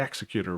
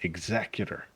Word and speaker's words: Executor: always thought it was called the Executor because it was Vader's flagship, and he executed people.